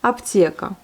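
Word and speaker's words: аптека: La pharmacie, ça se prononce comme aptieka. Donc il n'y a pas de souci là-dessus. On a le mot est accentué, on prononce bien le yé, aptieka.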